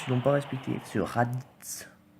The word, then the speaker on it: Raditz: Ce Raditz. T'as pas envie de le prononcer le tz.